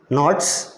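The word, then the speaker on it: knots: और मैंने नॉट्स क्या होता है, वो नॉट्स वर्ड पढ़ा जाता है, के साइलेंट नॉट्स।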